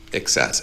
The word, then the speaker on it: access: trying to say access so instead of excess with the stress stress on the second syllable, but the stress on the first syllable.